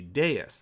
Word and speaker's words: Deus: name for the project the V in devs is actually Latin which the Romans pronounced as the letter you making devs actually Deus the Latin word for God although it was meant